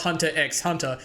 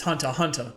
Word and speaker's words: Hunter x Hunter: called Hunter Hunter because I know the x is silent right it's not Hunter x Hunter it's Hunter Hunter and I don't know